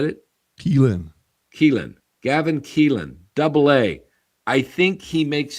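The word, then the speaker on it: Kilen: and I think Gavin Killian, or however you say his name, I think it's Killian. Keelan. Okay, Keelan. I said Killian first.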